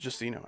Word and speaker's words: Xeno: Yeah, in our language that would be pronounced either Xeno or, yeah, just Xeno actually. X in that context always makes like a Z sound.